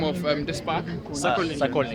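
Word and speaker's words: Sokolniki: Sokonilki. Okay, so that's how they pronounce it.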